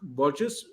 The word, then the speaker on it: Burgis: i showed you and that is actually luke burgess look purchase did i get your name pronounced correct or did i murder it you